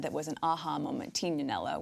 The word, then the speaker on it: Tignanello: The namesake actually comes from a wine that I had that was an aha moment, Tignanello, which people sort of pronounce Tignanello here in the States.